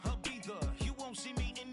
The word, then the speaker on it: Ibiza: Ibiza. Yeah, it's pronounced Ibiza, actually. Yeah. What's the difference, man? Ibiza, Ibiza, you won't see me in neither.